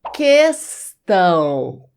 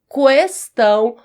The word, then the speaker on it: questão: As duas formas estão corretas. Questão ou questão. Eu prefiro falar questão. Prefiro. Não gosto muito de questão não. Mas você pode pronunciar questão porque não está errada essa forma.